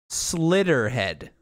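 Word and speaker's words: Slitterhead: this is the name slitter head slitter head i'm very uncomfortable with saying that name slitter head so like so like like say it's slow in three syllables yeah it's like um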